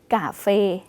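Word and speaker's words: cà phê: จาก ที่ กาแฟ เนาะ กาแฟ ก็ ออก เสียง ใกล้ เคียง กัน ก็ คือ กับ กาเฟ กาเฟ ใช่ ค่ะ ออก เสียง เป็น ก ไก่ นะ คะ กาเฟ ก็ คือ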